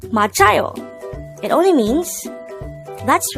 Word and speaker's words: 맞아요: here at the hangout word number 157 machayo machado this is pronounced as a three-suitable word the first syllable